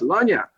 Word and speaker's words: lagniappe: And the minute I said Lagniappe, it's like some little bugs in the water just converged onto me, and I'm going, it's pronounced Lagniappe.